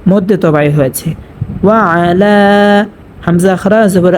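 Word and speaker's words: وَعَلَى: এখানেও কিন্তু সেমটা হয়েছে, এই যে পূর্বে আমি বলেছিলাম ওয়ালা, এখানে আইনটা স্পষ্টভাবে উচ্চারণ করতে হবে এবং লাম খারা জবর লা একালি পরিমাণ টানিয়ে পড়তে হবে, মধ্যে তবাই হয়েছে। ওয়া আলা।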